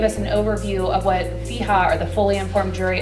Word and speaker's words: FIJA: We actually pronounce it FIJA, by the way.